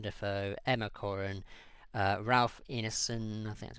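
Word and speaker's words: Ineson: Taylor Johnson William defo Emma Corin uh Ralph Inon that's how you pronounce his last name and uh Etc so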